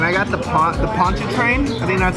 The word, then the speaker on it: Pontchartrain: my hotel and I got the pot the Pontchartrain that's how you say it yeah yeah pretty